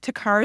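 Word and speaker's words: TECAR: yeah so the there's a great technology called tar therapy it's spelled te c a r it's enor in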